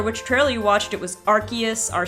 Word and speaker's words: Arceus: right like for example Arceus or I guess Arceus is the official official pronunciation of it but in the anime depending on which time you watch the trailer which barely watched it was Arceus are say essere seus so the anime does